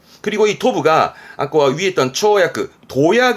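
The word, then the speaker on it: 跳躍: 도약입니다 도약 도약이라 하면 말하자면 점프 뛰어오르는 거죠 발음은 초야크 초야크 보이세요 부스가 같아요 그렇죠 요런 부분도 좀 봐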